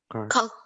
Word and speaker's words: cough: Cough. Apa ini? Ini dibacanya cough.